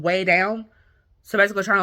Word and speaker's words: Weigh Down: In 1986, she starts this workshop class called Weigh Down. So basically trying to, like, lose weight. So it's spelled like, you know, a W-E-I-G-H. But also could be, sounds like weigh, like W-A-Y.